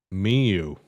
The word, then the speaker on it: Mio: You want me to tell you how it's said? What? Miu. No, O? What? Yeah, it's silent, bro. It's a silent Okay. O. You have never heard of a silent O?